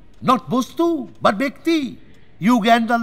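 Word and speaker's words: Uganda: ইউগান্ডার লোক, ওই তোমরা যাকে ভুল উচ্চারণ উগান্ডা বলো, 8.5 ফুট হাই, 54 ইঞ্চি ছাতি, 350 কিলো ওজন।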